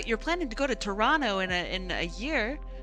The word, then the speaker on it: Toronto: Uh they're doing the the Toronto thing of uh not pronouncing the T.